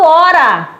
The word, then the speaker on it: hora: O H não conta porque ele não tem som.